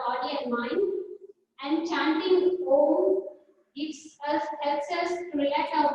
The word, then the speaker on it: Om: Pronouncing Om, Om is the first universal sound. When we pronounce Om, it is a combination of 3 syllables, that is A, U and Ma.